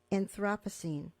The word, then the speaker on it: Anthropocene: your own poem, on a Saturday in the Anthropocene. And if you could explain what the Anthropocene era is, if I'm pronouncing it correctly.